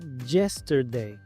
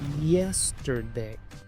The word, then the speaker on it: yesterday: Muchos pronuncian esta palabra yesterday, pero aquí la y griega se pronuncia como i. Yesterday.